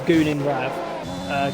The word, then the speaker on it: Gunin Rav: Is that how you say it? Guvin? It's just Gunin Rav.